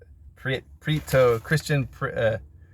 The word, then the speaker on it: Prieto: Prieto, Paco Christian Prieto.